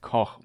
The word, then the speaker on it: Koch: So today we learned a bit about this, but it's pronounced Koch Media. That is, and it seems like they established a new thing there. Koch could be pronounced quite rudely in English.